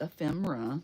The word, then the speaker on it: ephemera: so ephemera is and it's pronounced ephemera not Ina some people make that mistake um but oh that